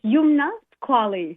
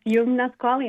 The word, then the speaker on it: Youmna Squalli: So, I want to make sure we get the pronunciation correct. I love it. It's Yumnasquali. Yum. Yes, Yumnasquali.